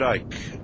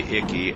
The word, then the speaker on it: Icke: They uh they they called me um Icke. Um They called you Icke? Yeah. I mean, that you don't pronounce the C.